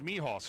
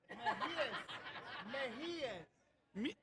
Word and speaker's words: Mejias: I'm just saying, like, your uncle's last name is Mijas, right? Is how that's pronounced? That guy right there said that's my nephew. Mejias. Okay, so I pronounced it wrong?